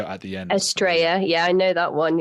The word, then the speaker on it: Estrella: I don't know if you know the Y or the double L in Spanish is pronounced like a Y, like Marbella, the Y at the end. Estrella, yeah, I know that one, yeah.